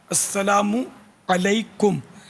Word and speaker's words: السلام علیکم: سلام کرنا نہیں آتا، السلام علیکم اس طرح سلام کرتے ہیں، حالانکہ یہ نہیں ہے. السلام علیکم، السلام علیکم.